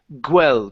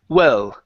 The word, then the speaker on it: well: Okay, so here you said gwel, pronouncing a small G. Okay, the word here is U-L, well, well. Well, Don't pronounce the g. It's not g. Okay, think of an U, like ubicar or okay. huérfano, right? So it's well.